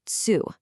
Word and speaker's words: つ: This character is pronounced tsu. The consonant sound again shifts, this time from a t to a tsu sound.